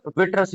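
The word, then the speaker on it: vitreous: क्या बोलते हैं तो उसको हम बोलेंगे हम विटरस ह्यूमर क्या बोलेंगे उसको हम तो भैया इसकी स्पेलिंग है वी आई टी आर ई ओ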